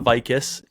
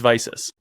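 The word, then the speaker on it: Vicis: It's not Vicus, it's not VCs, it's Visus. Oh man, yeah. Right? It's Visus, it's Riddell, it's Shut, and it's Zenith. That's how they're pronounced.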